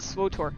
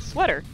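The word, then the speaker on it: SWTOR: I know most people pronounce it Swotor. I pronounce it sweater because it's fun. Like a sweater.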